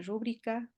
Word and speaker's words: rúbrica: Aquí tenemos una rúbrica con acento en la U, gracias a Dios, bien hechita.